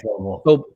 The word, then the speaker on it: Vobile: It's Vobile. Vobile. I always pronounce this in different ways.